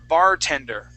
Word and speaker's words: bartender: let's practice the word bartender okay so our accent is going to go at the very beginning of the word right here Bartender Bartender okay excellent okay let's